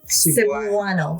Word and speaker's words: Cebuano: So, how do you pronounce it? Sabo. Sabuano.